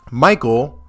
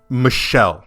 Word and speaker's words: Michel: off we discovered that Michael or as as both we have discovered and as one of my lovely viewers has pointed out um the name is actually pronounced Michelle I believe so that's